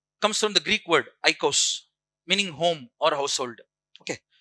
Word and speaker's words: oikos: Greek word. Eikos. Oikos. Pronounced as eikos.